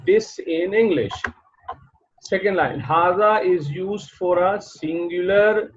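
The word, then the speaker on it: هذا: Second line, hada is used for a singular masculine noun and indicates nearness. Hada is pronounced hada, as I told you earlier, hada, but it is written without the first alif.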